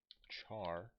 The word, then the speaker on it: char: example GPA equals 3.0 char grade oops foreign grade equals okay so he said charge for single characters I think point and single quotes I'm pretty sure that it's like like you're pronouncing Charizard and this will be